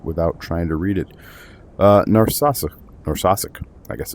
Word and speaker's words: Narsarsuaq: Narsarsuaq, I guess it's Narsarsuaq. Narsarsuaq? I'm going Narsarsuaq. It's not narcissist.